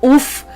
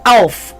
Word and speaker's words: auf: from the Midwest, because it is actually not Zuff, but it's Zauf, and not Uf, but Auf. But in the slang, how we talk there, you say it like that to make it sound, a little low life.